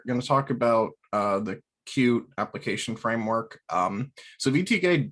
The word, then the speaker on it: Qt: basic intro to cube which i found out recently it's pronounced cute not qt um anyways so so